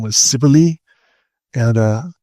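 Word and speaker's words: Cybele: and her name was Sibily and uh for a long time I wondered how um her name was pronounced and I and uh it's Cibili and uh she has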